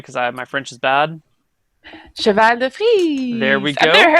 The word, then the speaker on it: cheval de frise: You're going to have to pronounce it for me because my French is bad. Cheval de frise.